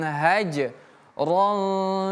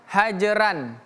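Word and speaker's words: هجرا: Wahjurhum hajron jamila. Perhatikan huruf ro jangan kita baca hajran bukan hajran. Hajron ro tidak ada ra dalam bahasa Arab atau bahasa Al-Qur'an. Bukan ra riu tapi ro.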